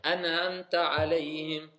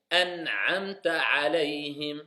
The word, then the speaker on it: an'amta alayhim: On n'entend pas l'aïn. An'amta alayhim. Tu vois, quelqu'un qui ne fait pas attention, il va se dire, c'est bon, il a bien prononcé. An'amta alayhim. Mais c'est faux. An'amta alayhim. C'est pas pareil.